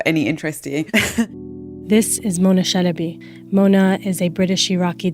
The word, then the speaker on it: Chalabi: if it's of any interest this is Mona Shinobi Mona is a British Iraqi data journalist and